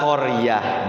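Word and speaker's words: قرية: Tidak boleh dibaca ahla qaryat. Tidak boleh, tapi dibacanya ahla qaryah. Jadi tamarbuto itu ketika diwaqaf jadinya huruf H.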